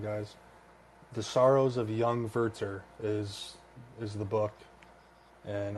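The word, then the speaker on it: Werther: of young spelled worth worth w-e-r-t-h-e-r but it's pronounced inverter the Sorrows of young werter I guess a point that I would want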